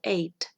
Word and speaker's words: ate: And the past is ate. Podemos encontrarlo en la lista de verbos y tenemos ahí que el pasado es ate. Se pronuncia igual que el número 8, ate, ¿ya?